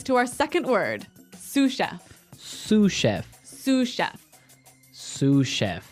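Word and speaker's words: sous: our second word sush suf suf suf s o u s so that s is silent because it's like a French word yeah something like that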